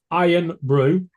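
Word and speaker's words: Irn-Bru: on the bottom shelf the IR N Brew it's iron Brew that's how you pronounce it made in Scotland from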